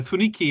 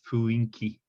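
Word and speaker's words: 雰囲気: Yeah, funiki is actually the proper spelling, but for reasons that I don't know, this is pronounced as fuinki.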